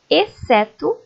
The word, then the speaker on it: exceto: Leiam comigo: exceto, exceção, excelente. Perceberam que essas palavras, o C é pronunciado, o X acaba ficando sem ser pronunciado. Como tem o C ali, apenas aparece o som dele mesmo, ok?